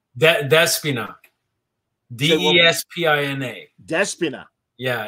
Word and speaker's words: Despina: Despina. Neskina? Despina.